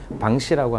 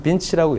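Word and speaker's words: Vinci: 그렇다면 어느 기업이 가장 잘하고 매출이 좀 큰가라고 본다면 프랑스의 방시라고 하는 기업입니다. 미국에서는 빈치라고 읽히는데요.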